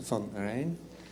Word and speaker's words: van Rijn: My last name is V-A-N-R-H-I-J-N. Difficult name, but it sounds like the River Rhine.